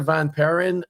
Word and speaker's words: Vaniperen: So, Peter, I'm going to try and not butcher your last name, but Peter Vanperin, I'm I'm assuming the L is is silent, but you're the CISO alpha sense, right?